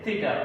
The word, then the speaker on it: থিটা: যারা 9 এ আছে নতুন পাইতেছো তারা হয়তো উচ্চারণ করতে একটু আর যে হবে প্রথম অবস্থাটা, এটাকে আমরা উচ্চারণ করি থিটা, অর্থাৎ এইভাবে। থিটা হচ্ছে এইভাবে, আমাদেরকে মনে রাখতে হবে এটা থিটা।